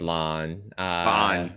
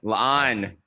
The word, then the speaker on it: La'an: me, I am still struggling with Lon. La'an. Two La'an. syllables. Two syllables.